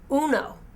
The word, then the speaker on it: uno: the number and words the number one is pronounced uno in spanish uno ready to say